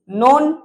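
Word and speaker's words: known: নন। তারপরে এখানে কে এর উচ্চারণ হয় না, কে এর উচ্চারণ কিন্তু সাইলেন্স।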